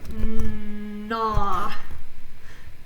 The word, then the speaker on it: gnaw: remember this is silent. Gnaw.